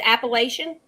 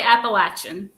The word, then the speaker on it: Appalachian: But like you said, if you're from the north or the south, you're going to say it totally different. So how do you say both? It? So wherever you live, that's how you say it.